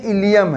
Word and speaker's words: ileum: बच्चों देखो, सबसे पहले जो नैरो कुछ नजर आ रही है ये इलियम है।